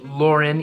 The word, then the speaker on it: Lawren: Lauren is a rapper from Miami Florida it's pronounced Lauren even though it's spelled Lauren he was part